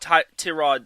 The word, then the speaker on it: Tyrod: And I think the Chargers offensive line, if healthy, can do well and protect Tyrod Taylor. Yes, it's pronounced Tyrod, but I'll probably still call him Tyrod.